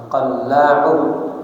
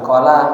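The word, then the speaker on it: القلاع: Qallau bacanya bifathil qofi. Nah, ya. Qof-nya dibaca fathah. Qo qolla. Kemudian watasdidil lam. Lamnya di kasih tasdid syiddah. Qalla. Q bukan qala tapi qahu ya.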